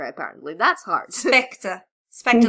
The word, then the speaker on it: Spectre: Well, I can't pronounce Silk Spectre, apparently. That's hard. Spectre like a ghost.